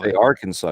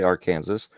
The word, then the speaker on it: Arkansas: kansas uh arkansas no well i know arkansas spells out our kansas right arkansas you don't say our kansas so it's illinois not